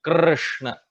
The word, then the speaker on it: Krishna: So you can see the R sound can be extended infinitely. That Krishna, Krishna, Krishna, Krishna. So this R is a separate vowel. So this vowel or swar R is the actual pronunciation of Krishna. So that is the pronunciation of Krishna that we should take.